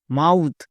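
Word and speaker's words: mouth: তাহলে এম এর জন্য ম প্লাস আউ মাউ এবং টি এইচ যেহেতু শব্দের শেষে আছে এর জন্য কক্ষনো দ হয় না সবসময় থ হয় তাহলে থ বসাও এবারে একসঙ্গে উচ্চারণ করো এম ও ইউ টি এইচ মাউথ একে আমরা ভুল করেও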